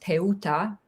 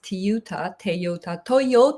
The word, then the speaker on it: Teuta: Kosovo American entrepreneur so in Albanian my name is pronounced teut American version it's Toyota I've been called all kinds of names So, whatever makes people comfortable, I'm I'm fine with it.